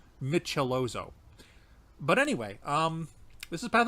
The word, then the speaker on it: Michelozzo: It makes it a little easier to phonetically see how you pronounce the name. Michelozo.